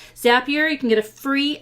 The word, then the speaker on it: Zapier: and paste that into Zapier. Rhymes with happier. Zapier, you can get a free account.